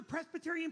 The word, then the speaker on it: Presbyterian: That B is silent.